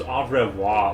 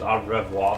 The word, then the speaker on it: au revoir: I think it was au revoir. Like the way people told me to pronounce it is au revoir, something like that.